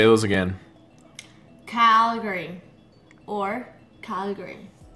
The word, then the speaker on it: Calgary: right calary Calgary yeah you're saying it right Calgary oh still have the accent but Calgary so